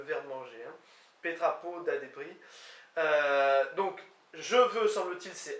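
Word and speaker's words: debriñ: Débris, qui s'écrit D-E-B-R-I-N, avec le tilde sur le N, semble-t-il se prononce débris, et donc c'est le verbe manger. Hein. Petrapo da débris.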